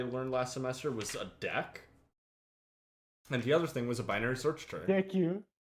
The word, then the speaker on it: deque: They told me it's not called a DECU. It's called a deck because DQ is a command and it's spelled differently.